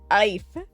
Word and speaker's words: Aoife: Ife. You're giving me a whole bunch of vowels with one consonant and you expect me to pronounce it right? Mm-mm. Aoife. How the fuck do you get Aoife out of that? Because we are Irish.